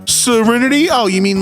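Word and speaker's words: Cyriniti: My daughter's name is Serenity, spelled C Y R I Ni TI, but pronounced like Serenity.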